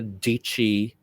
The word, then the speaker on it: Dietschy: her name is what sarah dietschy rhymes with peachy okay now i latched